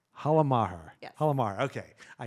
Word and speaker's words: Halla Maher: Halla Maher. Halla Maher.